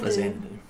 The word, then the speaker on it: Faxanadu: Really what I'm getting at is the X should be pronounced like a Z, like Xanadu. Faxanadu.